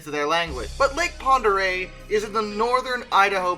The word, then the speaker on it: Pend Oreille: looks like but no it's french and it's pronounced ponder a also i remain convinced